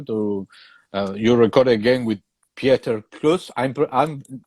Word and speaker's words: Pieter Kloos: enter the studio to you record again with Pieter Kloos? I'm correct me if I pronounce in the wrong way because I think he would love Pieter, but Pieter. it is Okay, Peter Pieter. Close. Yeah, Pieter Kloos.